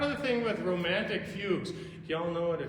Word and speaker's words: fugue: the thing with romantic fugues you all know what a fugue is it's an it's not fudge with a hard g it's um a fugue